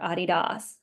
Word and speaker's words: Adidas: to the Adidas store Adidas as it's pronounced in Germany and the line hour